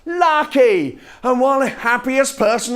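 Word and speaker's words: Lake: Lucky, spelt L-A-K-E, pronounced lucky.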